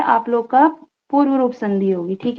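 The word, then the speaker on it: कोऽपि: Copy, जब उसको पढ़ेंगे तो ऐसी अ का उच्चारण नहीं करेंगे, ठीक है। वो सिर्फ दिखाने के लिए खंडाकार लग रहा है, पर उसका उच्चारण हम नहीं करेंगे।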